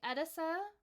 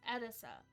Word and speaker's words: Edessa: I was like, okay, it's Edessa, like emphasis on the first syllable.